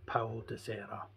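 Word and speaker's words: Paul da Serra: These guys have been found at all altitudes throughout Portugal, ranging from coastal areas right up to the plateau of Paulo de Serra. That's the correct pronunciation.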